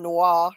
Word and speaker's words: noir: People, Americans who discuss film noir pronounce it film noir It's fine. It's not a big deal. Like if we don't say It's like a colloquialism, like a casual way of Americans to say it. yeah, it's fine. I wasn't gonna be like correcting you because I took French. I know how noir is pronounced, but I wasn't Yeah. gonna be like, no, Scarlet, it's film noir.